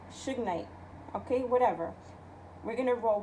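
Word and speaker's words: shungite: I'm not butchering it it's pronounced Suge Knight like you know the rapper the the you know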